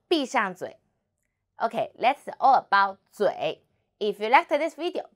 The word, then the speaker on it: 嘴: 我们一起读嘴嘴滋微滋微嘴 and third tongue 嘴嘴 very good.